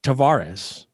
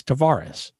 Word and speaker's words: Tavares: was put to him how would your grandfather pronounce it and he said tavares he says that's the portuguese way it's tavares so that's what we